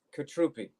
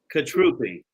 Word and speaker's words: Cutrupi: butchered your last name no you got it right the second time it's fine it's like you're vietnamese katrupi katrupi there you go see